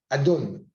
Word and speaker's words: Adon: Adnout, Adon. C'est comme ça qu'on le prononce.